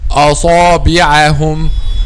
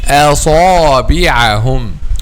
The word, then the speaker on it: أصابعهم: So some people and some Quran students say, oh, أصابعهم, أصابعهم, أصابعهم, and this is wrong. The correct pronunciation is أصابعهم, أصابعهم. Allah subhanahu wa ta'ala says in the Holy Quran, وإني كلما دعوتهم لتغفر لهم جعلوا أصابعهم في آذانهم. جعلوا أصابعهم, not أصابعهم.